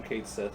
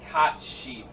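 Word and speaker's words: Cait Sith: you actually say it it's that one like cot sheep I'm gonna subscribe to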